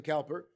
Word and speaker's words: Cowper: Beautiful hymn written by William Cowper, or Cooper, as some wish to pronounce it, and a man who